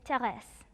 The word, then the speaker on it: Thérèse: In French, it is Thérèse. And in Korean, it is pronounced Teresa.